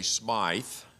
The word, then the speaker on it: Smyth: Robert Stevenson, and if you pronounce it the English way, Smythe, Baden-Powell was a British